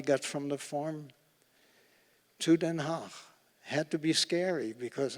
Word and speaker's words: Den Haag: And the underground came up with 2 women in the city of The Hague, Den Haag, as it is pronounced.